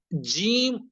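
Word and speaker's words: ج: প্রথমে আমি সঠিকভাবে জিম অক্ষরটি উচ্চারণ করছি, বরাবর জিহ্বার মধ্যখান উপরে তালুর সঙ্গে লাগিয়ে।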